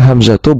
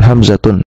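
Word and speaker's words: حمزة: Sehingga cara membacanya hamzatu bukan hamzatun.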